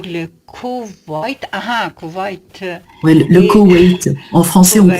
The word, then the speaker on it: Koweït: Ouais, le Et- Koweït. En français, on Koweït.